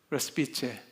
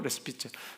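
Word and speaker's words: respice: 레스피째 포스대 호미 때 메멘토 레스피체 레스피게라고 하기도 하고 레스피체 왜냐면 라틴어가 지금 통용이 되지 않습니다. 요즘 같으면 뭐 그이 사람들이 어떻게 이걸 발음했던가 뭐 유튜브 보면 알 것 같은데 지금 이게 통용되지 않는 언어예요. 라틴어요. 그래서 교회 쪽에서는 주로 레스피체로 잃고 또 고대 라틴어를 전문으로 하는 분들은 레시피 깨로 읽습니다.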